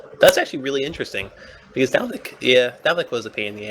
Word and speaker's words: Dalvik: Yeah, it's gonna be sad to see Dovrik. I think that's how you The pronounce it, right? Dalvik, Dalvik, yeah.